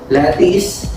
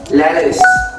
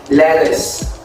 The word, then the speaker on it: lettuce: pronounced as lattice that's wrong okay it is pronounced as lettuce okay lettuce lettuce not lattice okay that is the inverted e which is pronounced as uh okay so that is